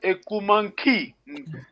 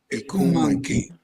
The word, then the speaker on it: ekumanki: Ekumanki. Remember, we have NK. This is the nasal. Excuse me. Kikongo is tonal language. Nasal is very important. Nki. Let me try to. Ikumanki.